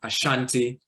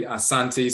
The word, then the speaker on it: Asante: the ti Asante with some will pronounce it Ashanti but it's really Asante so you'll see varying